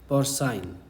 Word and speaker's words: porcine: तो इसके लिए हमारे पास इंग्लिश में वर्ड है पोर्साइन, PORCINE, पोर्साइन। मैं जैसे प्रोनाउंस करूं उसी हिसाब से पढ़ना, क्योंकि एकदम एग्जैक्ट प्रोनाउंसिएशन बता रहा हूं।